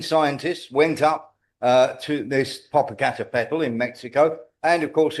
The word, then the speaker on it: Popocatépetl: There was one in Mexico called Popocatépetl. I've pronounced that right.